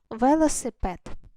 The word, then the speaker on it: велосипед: поділили слово на склади ве ло сипед і куди останній наш наголос падає на останній склад трішки вже обмовилась та